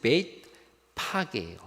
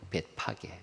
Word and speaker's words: 벳바게: 벳바게. 바게를 우리나라 음역으로 써서 그래요. 히브리 말로 쓰면 벳파게예요. 벳파게.